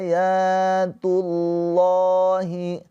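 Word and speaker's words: آيات الله: Aya tilka ayatullahi. Nah, ini lafaz Allah. Nah, dibaca dengan tafkhim tebal pakai O. Karena sebelum lafaz Allahnya ini harakatnya dhammah, maka pakai O ya. Dibaca tafkhim tebal gitu.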